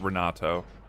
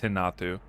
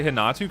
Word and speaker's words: Renato: You don't you don't say Thalita and his name is not Renato, it's Hinatu. That's just his pronunciation. And also I like to say Hinatu cuz I feel fancy.